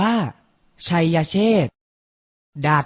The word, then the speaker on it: ไชยเชษฐ: เจรจา อ่าน ว่า เจรจา ไชยเชษฐ อ่าน ว่า ชัยเชษฐา สดา อ่าน ว่า ดาษดา